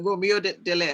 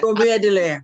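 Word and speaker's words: Dallaire: yeah, Romeo Delay? Romeo Delaire. I see his Yes. face and I couldn't say his name. Yeah, Romeo Delaire.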